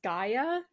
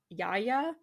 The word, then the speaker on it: Gaia: then the Earth uh I always thought it was Gaia uh when I looked at the pronunciation it said Yaya like with a y yeah oh really yeah